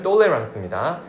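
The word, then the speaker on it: tolérance: 그거는 이 똑같은 발음에다가 nc 붙여서 영어로 tolerance인데 그걸 불어로 발음하면 똘레랑스입니다.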